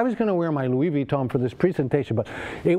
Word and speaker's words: Louis Vuitton: on the left is a Louis Vuitton you have to pronounce it with the French accent of course and the one on